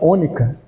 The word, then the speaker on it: onicha: Isso aqui se pronuncia ônica.